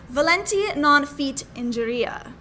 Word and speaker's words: volenti non fit injuria: You have to tell me about this phrase, which kind of ties right into nerves, and it's volenti non fit injuria. Oh, that is amazing. Thank you for pronouncing that properly.